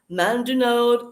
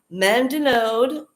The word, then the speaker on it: Mandonnaud: Mandunod, I hope that I'm saying that right. It seems very French and difficult to read. It's Mandonnaud. That's how you pronounce it.